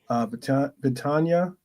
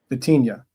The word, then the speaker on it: Vitinha: João Neves, Vitania. Wait, how do you pronounce his name? Vitinha.